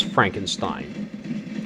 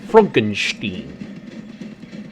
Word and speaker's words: Frankenstein: doctor so he didn't pronounce his name as frankenstein he pronounced it frankenstein so as the story moves along and dr